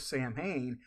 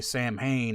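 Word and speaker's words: Samhain: different parts of the Celtic area pronounce it differently that's probably why yeah you got some that'll say sam Hayne and some probably say you know Salen but even like when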